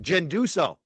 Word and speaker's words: Ginduso: I had to learn how to say her last name right. Ginduso.